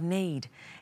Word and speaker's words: knead: soft ready for cooking notice the spelling of need it's spelt KN EA